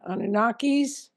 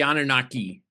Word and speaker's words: Anunnaki: If anybody didn't know about the Anunnakis, did I pronounce it correctly? The Anunnaki.